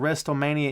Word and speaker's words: WrestleMania: had any kind of WrestleMania input that you'd like to give. Why are you pronouncing the T in WrestleMania?